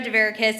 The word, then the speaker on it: Deus: uh good evening everyone my name is Deus sounds like asparagus um congrats to the